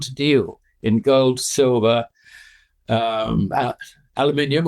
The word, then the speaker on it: aluminium: deal in gold, silver, aluminium, or as the Americans say, aluminum, in China, you can now do it.